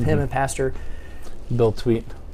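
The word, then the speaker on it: Tvedt: him and Pastor Bill Tveit. How do you say his name? It's Tveit.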